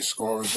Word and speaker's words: SCAURA: Hey, Scorers Aura, man. Shopify, Scorer, but it's spelled different. SCAURA. That's the store. I put it together. I put the SC from Scorer and the Aura.